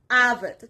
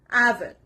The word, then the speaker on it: avid: Avid. The stress is on the first part, avid.